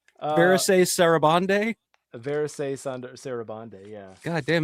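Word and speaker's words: Varèse Sarabande: I've always wanted one of the original Maurice Saraband releases. Which is that? I'm curious. Is that how you pronounce it, or is it Verise Sarabande?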